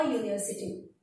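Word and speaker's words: university: है वो वॉवेल है, लेकिन उसका जो प्रोनाउंसिएशन है, साउंड है, वो यू यानी य होता है, और य जो है वो कॉन्सोनेंट है, इसीलिए हमने यहाँ पे अ लिया है, अ यूनिवर्सिटी। समझ में आ रहा है?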